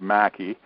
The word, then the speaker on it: Maki: about wayne mackey or maki not sure how he pronounced that nearly killing ted green yes it's actually pronounced mackie um i was right